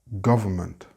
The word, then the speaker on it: government: And in European English, the R is very soft and we don't pronounce the N at all.